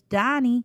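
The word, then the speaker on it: Daug Keith: because my name is donnie it's spelled d-a-u-g k-e-i-t-h man last night somebody brought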